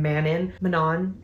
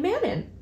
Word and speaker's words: Manon: And then I loved the development of him and Manon. I pronounce it Manon, but I think it's Manon.